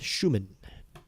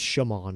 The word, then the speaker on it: Schumann: So, now five consecutive balls thrown by Seth Schumann. I like saying that name. Such a satisfying name, Schumann. Seth Schumann. Or it's Shuman and I've been saying it wrong, but I think it's Schumann.